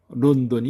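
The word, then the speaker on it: ロンドン: 니은의 경우는 론돈이 있습니다. 여기서 비음, 응은 한글의 니은에 해당되는 N으로 발음되고 있습니다. 그래서 론던입니다. 영국의 수도 런던을 말하고 있습니다.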